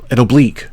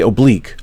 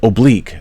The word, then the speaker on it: oblique: And it's an oblique, really. So in English we say oblique. It's pronounced oblique. However, the military says oblique because the military doesn't know English, I guess.